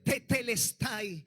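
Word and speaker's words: τετέλεσται: O sea, que cuando Jesucristo estaba en la cruz del calvario, la palabra real que pronunció, dijo, fue tetelestay.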